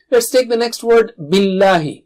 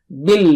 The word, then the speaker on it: بِاللهِ: Kita lanjutkan kepada kata: بِاللهِ Jangan tebalkan pengucapan "ل" (lam), jangan katakan, "Billlaahi." Tidak. Ucapkan "ل" (lam) dengan cara biasa saja.